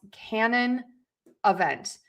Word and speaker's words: canon event: So, the stress is important here. So, you can look at the phonetic spelling at the bottom or you can look at the little apostrophes that is marking the stress on each syllable. And so we are going to stress syllable number one can. And we are going to stress syllable number four vent.